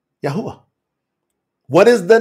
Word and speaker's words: Yahuah: And there's no W's, Daniela, in Hebrew. It's just a U-A, W-U-A. So you're just supposed to elongate that U.